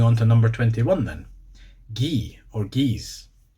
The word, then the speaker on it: gie: If you were saying ye in, well, either English or speaking with a Scottish accent, you would pronounce the hard G. Gie. As it is in Scotland.